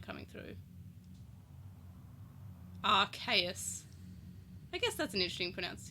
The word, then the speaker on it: Arceus: Pokemon Legends Arceus, which I always actually pronounce it as Arceus, but then I watched the trailer for this and I realised it was Arceus, which makes sense because the Arc phone would be Arse phone, and that is not super cool.